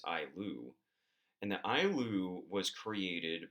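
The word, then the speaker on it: ayllu: lands to families, and we call this the Ailu, if I remember pronouncing that correctly. It's Ailu.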